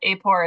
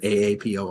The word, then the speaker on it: AAPOR: their chapter affiliations so yeah apore is the way we we affectionately refer to it it's a great question